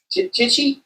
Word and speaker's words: Tichy: I checked out Brian Tichy. Am I pronouncing that? Tichy, yeah.